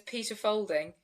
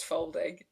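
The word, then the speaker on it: Faulding: like fa au but it's folding like that's how you pronounce it what a lovely name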